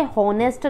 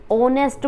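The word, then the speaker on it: honest: की आवाज नहीं आती हम इसे होनेस्ट नहीं बोलते ऑनेस्ट बोलते हैं न नहीं बोलते ओन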